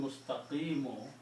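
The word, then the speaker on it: مستقيم: So this word becomes mustaqima. Okay? Originally, if you look in the Quran, when you stop, you pronounce mustaqim. But if you continue, you pronounce as in a sirat al-mustaqima sirat al-lazina. Okay?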